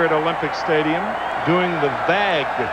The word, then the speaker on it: vague: Olympic Stadium doing the vag V AE which is the French pronunciation of the wave and it's spelled v